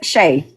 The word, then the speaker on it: Shay: Thank you, Sherry. Am I pronouncing your name right? I hope so. I'm sorry. It's You could say Shay.